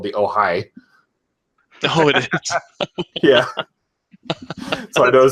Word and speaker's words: Ojai: go into their apartment, and then now it's spelled like OHJAI or something like that. Ojai.